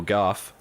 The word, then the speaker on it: Gough: in seasons past Alfred Michael Gough is it golfer go as how do you say apparently supposed to be like off so they get Gough